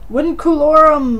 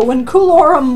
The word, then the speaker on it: Vinculorum: Vinculorum Mortai. Just classical Latin. Not new. Old Latin, you pronounce V's like W's, and A-E makes an I sound.